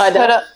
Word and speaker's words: Huda: Yes, Huda.